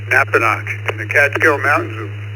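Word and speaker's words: Napanoch: Is that how you pronounce that? Over to you. Yes, sir, you got it correct. Napanock in the Catskill Mountains of New York State,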